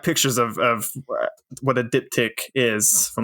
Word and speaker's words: diptych: Can you pronounce the title for me? Diptych.